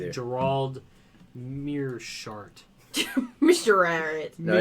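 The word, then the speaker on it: Meerschaert: I can't He's going up pronounce his against name either. Gerald Mearshart.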